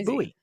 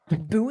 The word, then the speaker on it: buoy: familiar with the different pronunciations but the correct pronunciation is buoy buoy because it's funny because it's funny buoy is a funny word when in doubt default